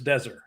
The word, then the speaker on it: Deser: It's not Deezer, it's Deser.